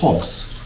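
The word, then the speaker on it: ħobż: Now, I believe in Arabic, it's hobs for bread, but here it's hobs. That's how you pronounce it.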